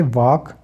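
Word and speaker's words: walk: है इस तरीके से वाक के से पहले हमने पढ़ा एल आता है तो साइलेंट हो जाता है तो साइलेंट हो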